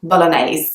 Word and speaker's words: bolognaise: kind of a sound at the end spaghetti bolognaise the next one I want to talk to